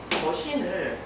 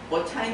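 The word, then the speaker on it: machine: 풀 2년 다녔는데 그 친구가 머신을 머차인이라고 읽는 거예요. 자기도 빠닉 스루를 딱 대입을 하니까 머차인 같은 거예요.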